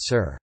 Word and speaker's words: šir: For example, sur and esser, meaning milk and lion, respectively, are now both pronounced sur.